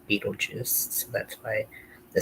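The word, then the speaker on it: Betelgeuse: actually how you spell his name but it's pronounced Beetlejuice so that's why the spelling The EC second is what more like phonetically correct of how to pronounce it.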